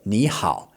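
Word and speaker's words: 你好: So, when you have two or more third tones in a row, you only really pronounce the last one as a third tone.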